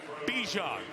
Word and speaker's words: Bijan: So you keep hearing say Bijan Robinson, right?